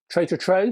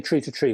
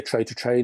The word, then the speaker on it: Tree to Tree: CD portable player from Tray to Tray. I think that's how you pronounce it. I used to say Tree to Tree, but I think it's Tray to Tray.